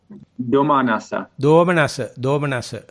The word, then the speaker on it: Domanassa: Can you pronounce it? Domanassa.